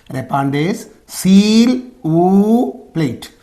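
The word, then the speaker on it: répondez s'il vous plaît: expansion of this abbreviation RSVP repes seal o plate so this is how you have to pronounce okay repes seal okay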